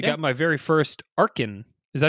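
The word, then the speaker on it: Archen: got my very first Arkin. Is that how you say his name? Little bird dinosaur? Archon.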